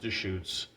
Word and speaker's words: Deschutes: Today, we're looking at from Deschutes, or Deschutes, but it's pronounced Deschutes.